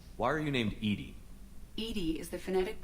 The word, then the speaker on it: EDI: ajar hey her name why are you named ed ed is the phonetic pronunciation of Ed I that is an acronym